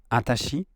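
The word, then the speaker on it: あたし: In the last extract with Ranma Nibun no Ichi, Akane pronounced Watashi more into something like Atashi, which is a very feminine way to say Watashi.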